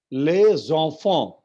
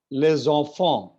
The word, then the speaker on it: les enfants: But because it is les and then enfant, so s and e will combine, and it will become les enfants.